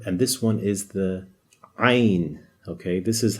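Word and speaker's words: ع: you pronounce this uh you know the letter a if you say that but tighten your throat when you say it so just not just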